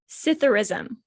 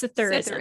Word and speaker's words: Psithurism: It's Psithurism. Now, I'm going to go off about this. I strongly believe it should be Scytherism, but it's Psithurism. What did I say first? It's Psithurism.